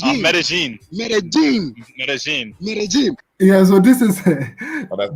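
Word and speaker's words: Medellín: yes how did they pronounce it it's pronounced medellin yeah so this is that this is yeah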